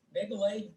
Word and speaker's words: MGALEG: There's a site called MGALEG, which is Megaleg. We call it, we put a little extra E in there when we pronounce it.